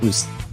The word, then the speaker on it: Usyk: Yeah, it's pronounced Usyk.